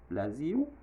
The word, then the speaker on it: Brasil: Brésil dit prononcer comme ça Brasil dans la langue pays.